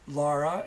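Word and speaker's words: Lora: your wife's name is Laura, usually pronounced Laura, but Laura, Laura.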